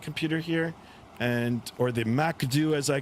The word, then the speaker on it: MCDU: here and or the Macd as I call it, the MCDU or I pronounce it Macd M A K D E W.